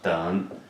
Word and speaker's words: 等: This one means 等, okay, pronounce 等. What 等 means, D-E-N, let me write it down here too, 等. Third sound.